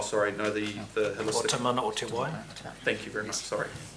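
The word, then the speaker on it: Te Mana o te Wai: Or Tamana o Te Wai.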